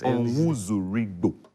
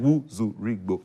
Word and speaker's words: Onwuzurigbo: So their MD's name is 5 syllables, and they say the CEO's penalty shootout is 5 penalties. That's right. So it's a divine coincidence that their CEO is the only CEO in Ghana with 5 syllables.